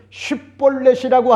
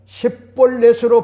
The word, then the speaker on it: 쉽볼렛: 길르앗의 사람들은 쉿볼렛이라고 하는 것 같은 발음을 정확하게 할 수가 있었지만은 에브라임 사람들은 쉿볼렛의 발음은 안 되고 십볼렛으로 발음을 하여 하는 것 같은 차이를 발견하게 되어 조언을 했던 겁니다.